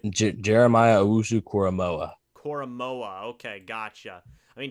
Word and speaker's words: Jeremiah Owusu-Koramoah: I mean, Jeremiah Owusu, Kamora, I think that's how you say it. Jeremiah Owusu-Koramoah.